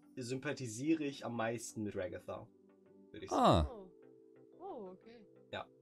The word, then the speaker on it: Ragatha: Und sie hat erst Ragatha gesagt. Und dann haben wir ihr gesagt, nee, den bitte neu aufnehmen, der Name wird Englisch ausgesprochen. Und dann hat sie Ragatha gesagt.